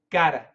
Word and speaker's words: got to: to got to but we don't say to we say gotta gotta it's a d d sound gotta gotta gotta and